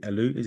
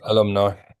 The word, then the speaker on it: alumni: They're on the alum. Is it alumi? Alumni section. Alumni. Alumni. Thank you.